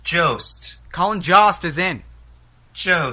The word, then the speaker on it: Jost: york new weekend update co-anchor pronounced jost colin jost is in